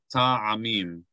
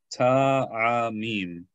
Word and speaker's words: ta'amim: And you want to pronounce it like 3 parts in a word, not 2 parts. 3 parts. Ta, a, mim. So we want to be careful to say 3 parts of the word.